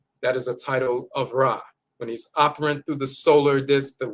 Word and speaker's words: Ra: sun god and sun rays they'll say ray instead of rah. They've always mispronounced it.